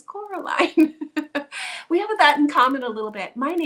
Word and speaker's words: Coraline: to be showing you oh and I just said it wrong Coraline that's a part of the movie she gets very upset when people call her Caroline because her name is Coraline we have that in